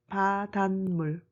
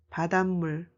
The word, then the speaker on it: 바닷물: In spelling, 사이시옷 was added when combining 바다 and 물. And in pronunciation, the nasalization rule applies here. So you have to pronounce it as 바닷물, 바닷물.